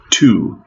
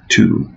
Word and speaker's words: two: Two. Two. Опять-таки, вот эта буква W. Не произносим.